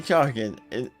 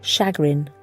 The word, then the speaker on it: chagrin: You say Chargin, but you wrote Chargin. Might be the proper way to pronounce it. I believe in my document it's not listed as a spelling error. No, you wrote it right. Chagrin. But it is pronounced chagrin.